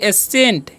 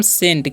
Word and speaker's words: scent: तो इसे क्या पढ़ेंगे हम, इसे पढ़ेंगे एसेंट, एसेंट पढ़ेंगे नहीं, इसे हम पढ़ेंगे हम सेंट। क्या पढ़ते हैं, इसे हम पढ़ते हैं सेंट, ओके। यहाँ पर सी साइलेंट है, ओके।